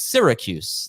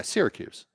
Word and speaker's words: Syracuse: It's Syracuse, like syrup. yeah, Syracuse.